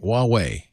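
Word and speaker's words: Huawei: W wuwei that's how you saying it right wuwei that's correct Ascend D quad the fastest phone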